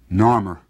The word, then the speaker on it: Narmer: fish and a chisel now the fish was pronounced noir and the chisel is pronounced mur Narmer this is the man